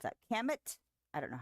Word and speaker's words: Kamut: Kamet? I don't know how to pronounce that. That thing. How do you pronounce that? Kamut.